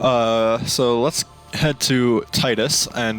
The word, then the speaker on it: Titus: so let's head to Titus and I do not care what you say it is Titus and not tittis or tetus I am one the